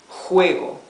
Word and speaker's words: juego: You see, this is juego, juego. Scratching the throat. It's not the exhalation of the H, the English H.